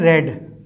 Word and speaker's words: read: इसको मैंने प्रोनाउंस किया है रेड। किसी स्टूडेंट को ये नहीं लगना चाहिए कि मैंने उसको गलत प्रोनाउंस किया है। ये प्रेजेंट परफेक्ट का टेंस है, आई हैव रेड।